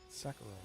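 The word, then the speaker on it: Sekiro: Uh, Sakuro. Is that how you pronounce that? Sakuro, right?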